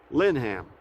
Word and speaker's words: Lineham: up here she said you pronounce it according to her linham so i'm at linham falls and that's right there